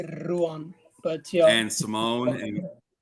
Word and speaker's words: Ruan: Is that how you pronounce it? Yeah, Ruan. It would actually be Ruan, but yeah.